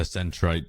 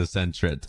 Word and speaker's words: Sentret: I know it's called a centrite. I'm just playing as a centret. Sentret. Now it sounds weird. Am I saying it right now?